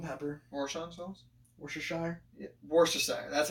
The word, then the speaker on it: Worcestershire: Have you ever tried Warsons? Salt and pepper. Warsons sauce? Worcestershire. Yeah. Worcestershire.